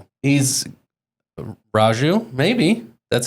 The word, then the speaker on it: Raju: Ragu. Capil. Ragu. Okay. He's Indian. Or it could be Raju. He's Raju.